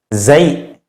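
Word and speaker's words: زاي: Nah, 'zai' ini, dibaca 'zai'. Namun sebagian orang membacanya sebagai 'za'. Mengapa? Jika membaca 'zai' terasa sulit, beri tahu guru. Namun yang paling akurat adalah 'zai'. Lalu jika Anda mengalami kesulitan, maka 'za', seperti itu.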